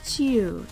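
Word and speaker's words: 宙: This kanji is pronounced Chiu and translates roughly as air, space, or sky.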